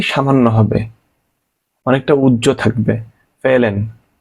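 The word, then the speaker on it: fehlen: হবে অনেকটা উজ্জ্ব থাকবে ফেলেন ফেহলেন হবে না কিন্তু ফেলেন অল্প একটু উচ্চারণ হবে যে আমি ব্র্যাকেটের মধ্যে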